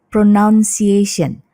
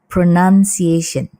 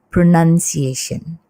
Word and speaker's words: pronunciation: Tapi ketika dia menjadi kata benda, ini adalah pronunciation. Pronunciation. Bahkan penulisannya pun kalau kita lihat di sini bukan pronoun, tapi pronun. Jadi O-nya hilang, ya. Jadi membacanya bukan pronunciation, tapi pronunciation.